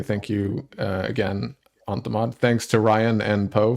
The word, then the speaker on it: onthemod: Oh, you can pronounce it on the mod. Some people pronounce it on T-mod, which is also an acceptable parsing.